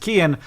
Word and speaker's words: Cian: This person's name is Kian, who says, my name specific sign off, only if you realize that CIAN is pronounced Kian.